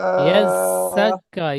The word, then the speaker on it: يزكى: وما عليك ألا يزكى ইয়াজ্জাক্কা, ইয়াজ, জাটি city মারার মতো না, ইয়াজ্জাক্কা, يزكى يزكى وما